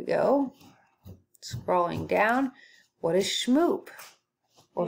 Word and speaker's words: Shmoop: scrolling down what is shmoop well shmoop rhymes with poop so maybe that's interesting